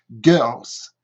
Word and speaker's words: girls: Et si je rajoute un S, je fais le S se prononce comme un Z, girls, girls, girls.